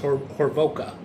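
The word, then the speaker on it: Hovorka: Robert, I think it's pronounced Horvoka, H-O-V-O-R-K-A, for his patient help with the computer.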